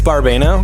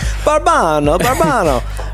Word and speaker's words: Barbano: It's Barbano.